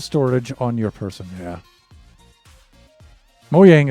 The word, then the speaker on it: Mojang: Mojang is correct pronunciation. See, I think it is, right? Scandinavian Germanic language, right? So the J's make the Y sound, right?